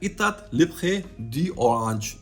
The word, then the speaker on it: Etat Libre d'Orange: और अगर French pronunciation अगर आप इसकी देखें तो वो है इतात लिब्रे डी ओरांज, ऐसे कुछ करके है।